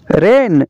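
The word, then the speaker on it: reign: का जी साइलेंट है रेन रेन का मतलब है दौरे हुकूमत रेन का जी साइलेंट है फैन फैन का मतलब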